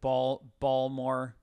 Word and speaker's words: Baltimore: water okay yeah and they pronounce it ball more Baltimore so I'm gonna give you